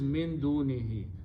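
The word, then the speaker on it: مِن دُونِهِ: And for pronunciation purpose, we pronounce this who as he also. Tajweed only. So final word is min dunihi.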